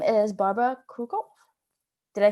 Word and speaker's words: Barbora Krukow: Her name is Barbara Krukow.